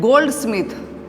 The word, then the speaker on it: goldsmith: In compound word like goldsmith.